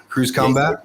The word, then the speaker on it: Cruise Combat: And he's also on the board of Cruise CMBT, or I guess you pronounce that Cruise Combat.